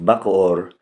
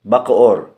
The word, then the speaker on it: Bacoor: what they were building the man answered bakod the Spanish pronounce it as bakur which soon became the town's name in Spanish conquistador Miguel de luarka's